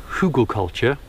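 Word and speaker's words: Hügelkultur: it's a cross between hugall culture I think that's how it's said it's German for for Hill culture or Mound culture and that's where you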